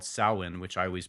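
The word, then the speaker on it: Samhain: Celtic pagan holiday right it was um called Sinn which I always pronounced Sam Hae when I saw it but it's pronounced sin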